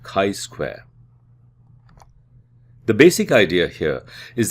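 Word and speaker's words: chi-square: not independent we use a Ki Square test statistic pronounced Kai Square the basic idea here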